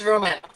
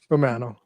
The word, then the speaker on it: Romano: Is it Romano or Romano? It's Romano. Romano.